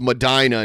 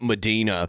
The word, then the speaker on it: Medina: I'm from Ohio, and I believe it's pronounced Medina, not Medina.